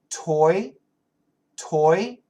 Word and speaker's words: toy: What's the difference in pronunciation between T-O-Y and T-O-E? Listen carefully. Toy, toy, toe, toe.